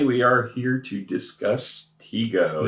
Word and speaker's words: Tigo: Today we are here to discuss Tigo. No, it's pronounced Tigo. I looked it up.